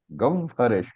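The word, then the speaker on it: गह्वरेष्ठम्: Remember chanting rules, even pronunciation rules. The h is ha. The h is half, v is there also. When the h and two combined with another alphabet, the other alphabet is pronounced first. And therefore, gahvareshtam puranam.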